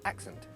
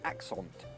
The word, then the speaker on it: accent: example is in the word accent we say accent and it has the schw sound it should be a lazy sound uh but some people might overcompensate and pronounce it axent and that kind of borders on a French